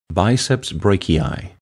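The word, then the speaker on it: biceps brachii: clicking the icon once you can hear the name pronounced properly biceps Breaky eye double clicking the camera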